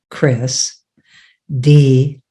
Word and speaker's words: Kris D: I want to actually spell your name again because Kris D could sound like Christy. And so it's Kris, Kris, D as in dog, how you expect to spell it.